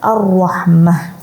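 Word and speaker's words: الرَّحْمَة: Nah, karena akhir ayat atau akhir kalimat, maka dibaca bukan tan, tapi dibaca seperti huruf ha. Contohnya yang di sebelah adalah ar-rahmati misalkan. Kemudian ketika ada waqaf maka dibaca ar-rahmah.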